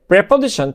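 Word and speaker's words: preposition: পরে প্রেপোজিশন two must, উচ্চারণটা দুই ধরনের হয়, প্রেপোজিশন অথবা প্রিপোজিশন। বেশিরভাগ যারা আমেরিকান বা ব্রিটিশ তারা কিন্তু প্রেপোজিশনই বলে, ঠিক আছে, খেয়াল করবেন, এটা দুই ধরনের সাউন্ড হবে, একটা প্রিপোজিশন, একটা প্রেপোজিশন।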